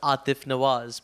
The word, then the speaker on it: Aatif Nawaz: is pronounced in uh so my name in Udu is pronounced Atif naaz but like that's a